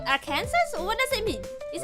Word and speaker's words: Arkansas: Kansas and Arkansas.